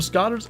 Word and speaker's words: Scoter: in Way the Hunter, I pronounced it like 15 different ways. And every time I thought I had it, somebody would tell me, no, it's this. And Scotter is what I was told.